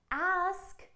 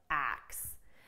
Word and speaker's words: ask: let's fix your pronunciation so you can correctly pronounce ask and it doesn't sound like axe now let's be honest